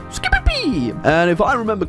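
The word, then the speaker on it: Scipii: eye or the skippy a lot of people think it's pronounced skippy eye it's not it's a scooby-pee and if i remember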